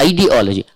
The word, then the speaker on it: ideology: It is not ideology. ID. So, and I am pronouncing it clearly.